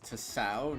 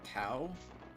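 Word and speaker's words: Tsao: The name is pronounced Tasao, not cow.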